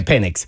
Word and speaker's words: Penix: they drafted penix right is that how you pronounce yeah penix and and I said Oh I thought it